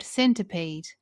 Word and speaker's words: centipede: seeing in the word centipede. Let's replace the I sound for the schwa sound a. Centipede. Centipede. That's better.